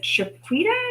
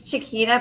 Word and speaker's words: Chiquita: excavate part of the chaquita is that you pronounce it it's um it's chiquita but it's actually called